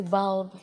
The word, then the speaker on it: bulb: Cái từ bulb, đây nó phiên âm là âm á này, bulb.